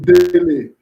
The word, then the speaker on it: Dele: They will call me Dele. Like my brother. Like the footballer called Dele Ali.